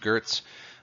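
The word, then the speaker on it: Geertz: of what what culture is the anthropologist Clifford Gertz I know it's written Geerts but it's pronounced Gert's wrote you know you know kind of a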